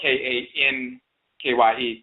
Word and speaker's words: Kankye: That's why when it's spelled in the orthography, you'll see it spelled K-A-N-K-Y-E, Kankye, because it's Kan, K-A with the nasal, and then Che.